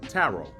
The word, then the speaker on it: tarot: you got tara okay taro taro is spelled t-a-r-o-t okay you drop the a and the o that t that final t is not pronounced so it's really an